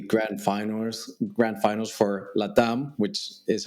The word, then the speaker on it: LATAM: you pronounce it yeah it's latam right because it stands for yeah Latino America that's